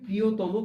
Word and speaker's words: প্রিয়তম: আচ্ছা, প্রিয়তম, এটার উচ্চারণ হবে ও ত এর উচ্চারণটা হবে বিবৃত, তারপরে হবে ময়ের উচ্চারণ আবার সংবৃত। সুতরাং এইভাবে প্রিয়তম কথাটি আমরা উচ্চারণ করব।